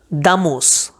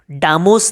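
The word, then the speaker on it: damos: और और एक एग्जांपल आपको मैं देता हूँ, दामोस, डामोस नहीं, दामोस।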